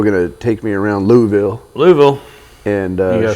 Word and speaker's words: Louisville: And Taylor's still going to take me around Louisville. Louisville? And uh You got to say it like marbles in your mouth. Louisville.